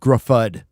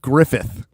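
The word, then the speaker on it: Gruffudd: If you look at how his name is spelled, it's Ion Griffud, Yes. but it's That is actually Welsh. Johan Griffith. And you get a TH out of 2 Ds?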